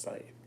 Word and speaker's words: scythe: It definitely is pronounced scythe, like science.